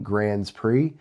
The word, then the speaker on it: Grands Prix: Formula One announced the cancellation of the Bahrain and Saudi Arabian Grands Prix.